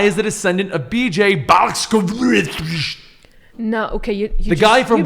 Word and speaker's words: Blazkowicz: Fans have pointed out the physical similarities between BJ Blazkowicz.